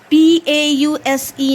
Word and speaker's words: pause: words here we have p-a-u-s-e now very good pause it ends with sir sound and e is silent here like you have cause